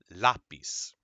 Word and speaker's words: lápiz: If there's an accent mark, that's where you're going to pronounce that the stress. Okay? So for example, in this word lápiz, or this one, instantáneo, último, it holds it there.